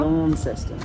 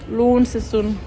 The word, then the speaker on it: Launceston: Je sais pas comment ça se dit, ça se prononce comment? Launceston. Launceston.